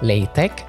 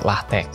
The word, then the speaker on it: LaTeX: lamport ya Nah sementara lahte itu dibacanya LTE atau latek ya kalaupun Ee kita biasanya sebagai orang Indonesia biasanya nyebutnya sebagai latek ya pakai X ya Nah sekarang mungkin